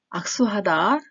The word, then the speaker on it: 악수하다: 이사가다, 이사오다, 공손하다, 악수하다, 악수하다. 기역과 뒷낱말의 시옷 자음과 다음이 만나기 때문에 수를 된 소리로 내서 악수하다라고 읽게 됩니다.